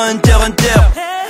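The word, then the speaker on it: Hunter × Hunter: le cœur quand je te dis qu'on ne prononce pas le X dans Hunter Hunter sauver le monde avec Eva 01 ou faire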